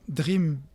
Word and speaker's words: Drheam: Et Dream s'écrit D-R-H-E-A-M, vous l'avez remarqué, et c'est l'acronyme de développement des relations humaines et application management.